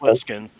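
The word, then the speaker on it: Plissken: To some, I mean, Snake Lipskin or Ripskin, or I can't even remember how you say it. Lipskin.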